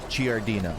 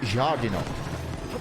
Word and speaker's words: giardino: in italian is pronounced giardino it's three syllables not four and there's the g